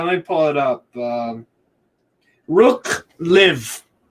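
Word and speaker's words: Rukh Lviv: Rook Live. If I'm saying that right, you'll say it right. Rook Live. Yeah, Rook Lviv. Yeah. Lviv. Yes.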